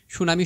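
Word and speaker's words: tsunami: তুমি আরো খুব সহজে মনে রাখতে পারো যেমন সুনামি শব্দটি অনেক সময় পরীক্ষায় দেয় ঠিক আছে সো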